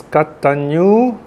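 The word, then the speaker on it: kataññū: Nya, pronounce nya, ne? Katanyu, and then you see the U got a line over it. The line over it is called a makran. Makran means make it big. So the U is pronounced long.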